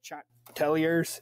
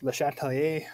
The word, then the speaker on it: Le Chatelier: the chatelier's principle um this is a french name so make sure to have that french french pronunciation it's not the chat tell yours it's le chatelier um so we're talking